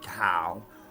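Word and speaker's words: Tao: around my writing is the whole Dow t a o tow some people say tow or d a o da so now on my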